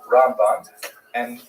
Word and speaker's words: Ramban: Rambam is pronounced with the emphasis on the first syllable, Ramb. And Ramban is pronounced with the emphasis on the second syllable, Rambam and Ramban.